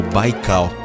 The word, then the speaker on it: Baikal: usar o nome de baigao pronunciado como o baikal geografia do local onde